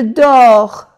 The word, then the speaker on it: dors: Je dors. No se pronuncia la S.